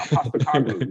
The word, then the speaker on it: Postecoglou: I kind of hope Spurs hire Postecoglou just so I have to see you pronounce his name every week. I think I got it now. Postecoglou.